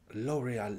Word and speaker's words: L'Oréal: 11e je sais plus regarde en anglais l'oréal l'oreal voix c'est presque pareil l'oréal l'oreal ok les